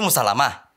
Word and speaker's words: Musallamah: Jadi dibacanya Musalama.